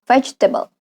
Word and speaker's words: vegetable: our restaurant restaurant restaurant and vegetable vegetable vegetable the second II can disappear vegetable